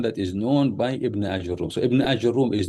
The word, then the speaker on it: آجروم: A lot of people they say Ajurum, but the proper pronunciation is Ajurum, which is not an Arabic word, but he was known by that title.